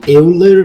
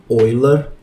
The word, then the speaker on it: Euler: Tá escrito Euler, mas pronuncia Euler, tá? Porque o nome do cara é de algum país maluco que pronuncia o E e o U como Oi.